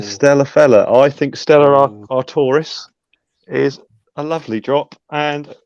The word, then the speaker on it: Artois: But no, so Guinness, Blue Moon, and Stella Artois. I know it's Artois, but I call it Artois.